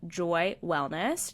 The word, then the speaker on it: JOI Wellness: And so I decided to get lab work done through an incredible company called Joy Wellness. That's spelled JOI Wellness.